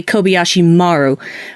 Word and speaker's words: Kobayashi Maru: a simulation like the Kobayashi Maru that you didn't know is happening so excuse me it should be actually Kobayashi Maru which is the correct way to pronounce that but nobody does except the people in the